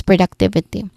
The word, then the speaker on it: productivity: I think five testing sounds here starting with pro which is our primary stress pro. I know. Yeah. Yeah. You stress also on that productivity, but also we stress on the third syllable duck.